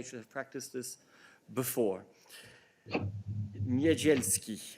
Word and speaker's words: Niedzielski: Successful applicants will also be considered for the Megalizy Niedzielski, oh my God, Prize for Aspiring Journalists. Sorry, I should have practiced this before. Niedzielski, I think is how you would pronounce it.